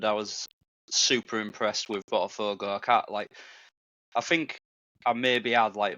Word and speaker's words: Botafogo: Botafogo. That's how you pronounce it. Botafogo.